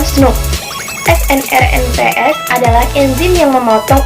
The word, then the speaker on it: snRNP: Intron dihapus dari pra-mRNA oleh small nuclear ribonukleoprotein atau snRNPS, diucapkan SNP.